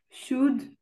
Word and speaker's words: should: Hmm, cooled, would, should, talk, work. Ok. Alors, je vais te donner une petite règle. Pour ces mots que tu vois ici, Oui. prononce jamais le L.